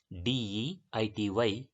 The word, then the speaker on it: deity: The word is d e i t y which is pronounced as deity.